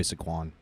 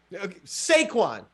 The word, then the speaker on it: Saquon: give me my boy sequan saquon well you didn't cheat off of him in spanish i mean saquon sounds like you know that it's saquon i'm not sure i've